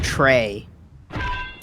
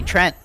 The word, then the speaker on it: Trent: And I say, "Yeah, sometimes when I say my name, some people think I'm saying Trey. I get that a lot. So I I try to pronounce the T.